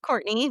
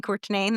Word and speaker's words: Courtenay: It's pronounced Courtney, but I spell it like Cortine. Uh, and lots of people like to tease me and call me Courtain.